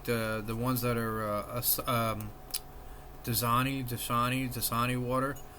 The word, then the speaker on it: Dasani: I think it was Dasani water. That's how you pronounce it.